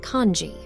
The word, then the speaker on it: kinzi: Neris begins to explain that the kinzi that Megara translated as a human name in Verlian is pronounced kanji.